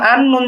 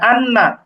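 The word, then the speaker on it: أنّا: যেমন এই উচ্চারণটা হচ্ছে হামজা নুন জবর আন, নুন জবর না, আন না। তো আমরা শুধুমাত্র আন না এরকম উচ্চারণ করবো না, বরং আমাদের গুণনা করতে হবে আন্না, আন্না, এরকম।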